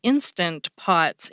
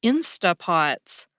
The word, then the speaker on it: Instant Pot: the other day because I always thought they were called “Insta Pots.” A lot of people seem to drop that “nt” sound at the end of “instant,” just like they do at the end of “couldn’t.”